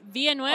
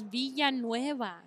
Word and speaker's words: Villanueva: He's Villanueva. Andre Villanueva. Yes. Oh, Alejandro Villanueva. Yes. Alejandro Villanueva, 2-yard touchdown reception. Can you not say it that way? It's Villanueva, not Villanueva.